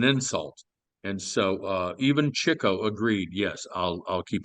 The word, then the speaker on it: Chico: terrible I always used to think that was Chico marks but it's Chico marks yeah yeah that's how it's pronounced uh you know these were Jewish guys